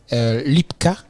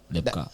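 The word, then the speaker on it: Lebka: Ça s'écrit L-E-B-K-A. Voilà, Lepka. je Caleb croyais en que- l'envers. Ok. Tu tournes Caleb, ça fait Lepka. Ah ouais, je pensais que c'est en anglais, Lepka. Non, Lepka.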